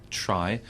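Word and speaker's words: Tri: Tree. No, it's Try. It's Try.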